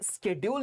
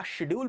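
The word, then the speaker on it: schedule: Lieutenant दोनों होता है, और ये स्केड्यूल नहीं होता। या तो इसको स्केड्यूल पढ़ेंगे, या शेड्यूल पढ़ेंगे, या शेड्यूल पढ़ेंगे।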